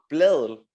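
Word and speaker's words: Blædel: And you know, Sarah Bladel, how do you pronounce the name? Bladel? Yeah, Sarah Bladel. Yeah, sorry? Bladel.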